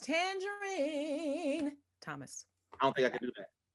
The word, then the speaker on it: Tanjareen: And it's pronounced Tangerine.